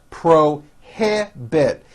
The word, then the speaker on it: prohibit: longer have a problem prohibit three syllables pro he bit they prohibit the use